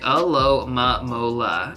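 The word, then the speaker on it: Alomomola: At 594, we have a pretty difficult Pokemon to pronounce, at least for me. This Pokemon is going to sound like Alomamola.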